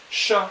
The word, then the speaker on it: chat: In chat, you do not pronounce the T, but it is there, okay? Often, if vowel, consonant, like T, A-T, like that, you will not pronounce the T. It will be silent, okay?